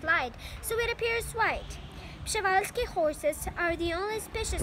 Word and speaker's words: Przewalski: Pshevalsky horses are the only species of horse. Pshevalsky.